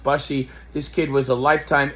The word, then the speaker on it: Bussey: bench, brought in Brandon Bussey, I think it's pronounced Bussey.